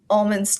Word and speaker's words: almond: When an almond is in fruit form, the L will become silent, and that makes this pronunciation almond.